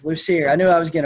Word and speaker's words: Lussier: Lussier. Lussier.